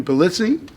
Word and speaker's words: Pulizzi: Hey everybody, Norm over here, and I've got my friend Tony Pulizzi. Got it, man. That's how you pronounce it.